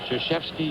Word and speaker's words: Krzyzewski: Krzyzewski, you pronounce it.